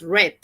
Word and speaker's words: read: La pronunciación. En presente tú dices read, en pasado dices read.